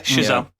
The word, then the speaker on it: Chazelle: just the way that he um is it chazelle is that pronounce it I just want to I want to yeah shelle yeah yeah the way that he films these